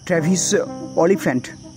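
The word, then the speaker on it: Travis Oliphant: প্রথম ক্রিয়েট করেছিলেন mister ট্রাভিস অলিফ্যান্ট যদি আমি উচ্চারণটা ঠিক করি টি আর এ ভি আই এস আর সারনেমটা হচ্ছে ও এল আই পি এইচ এ এন টি অলিফ্যান্ট I think 2005 সালে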